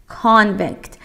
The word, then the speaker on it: convict: convict تلفظ سی محکم تره و حالا خودش زیر او هم دایره که در واقع خط کشیده که بگه او رو باید با اصرار بیشتری ادا کنی.